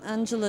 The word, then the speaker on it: Angela: I pronounce my first name in an English way because I grew up in America. And my surname I pronounce as a German because I have a German passport and I was born in Germany.